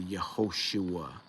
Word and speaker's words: Yehoshua: Holam Wa, and then they insert another Holam Wa after the Shin to indicate that there must have used to be a letter there, a Holam Wa there, and that gives it the Yehoshua pronunciation.